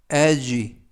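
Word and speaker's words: edge: 뜻은 수요일 이라는 뜻이고요 이번에는 탄허 중간에 오는 dg 에서 d 가 묵음 이 되겠습니다 이는 에 에 그리고 튀는 묵음 이고요 쥐는 쥐 맨 끝에 이도 모금 그래서 l 주 엘쥐 라고 발음합니다 뜻은 모서리 라는 뜻이고요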